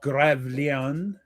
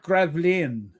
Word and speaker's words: Gravelines: In a 9-hour battle of Gravelines, the English fleet. No, it's called Gravelines. Gravelines. I mean, the English always pronounce it as Gravelines.